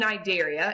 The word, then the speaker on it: Cnidaria: And if you notice in the picture, phylum Cnidaria, and the C is silent, so Cnidarians, encompass our jellyfish, our sea anemones, and our corals.